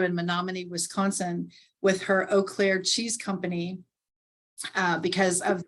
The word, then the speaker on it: Eau Claire: friend jody giroux in menomonee wisconsin with her eau claire cheese company uh because i've pronounced that correctly you did very good there